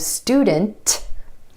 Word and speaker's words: student: So for example, the word student. Instead of student, student. My tongue stays up for the T sound after the N.